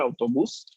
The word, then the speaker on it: autobus: Aquí, atención, no hay que confundirlo con la pronunciación del español, autobús. En italiano es autobús. El acento tónico de la palabra está en la primera sílaba.